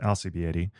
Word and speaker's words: Alcibiade: Erica Alcieted, who once told me to pronounce her name using the letters L, C, B, A, and D, is an assistant professor